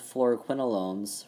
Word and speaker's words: fluoroquinolones: And the way you can remember the fluoroquinolones from all the other structures in this exam, fluoroquinolones, quin, rhymes with twin, you have twin rings right here.